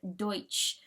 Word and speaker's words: Deutsch: began the Pennsylvania Dutch Dutch being in this case an American mispronunciation of the word Deutsch for German by 1745 there